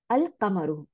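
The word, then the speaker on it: الْقَمَرُ: তারপরে এসে কফ, আল কামারু, ওই যে কামরি ওয়ার্ড, কামরি ওয়ার্ড আর শামসি ওয়ার্ড, কামরি মানে চাঁদ, তাই না? আল কামারু, লামটা উচ্চারণ হয়েছে।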